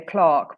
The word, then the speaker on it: clerk: ask the clerk but obviously it looks like clerk so how would you say this well if I had to say I'd say Clark but the only reason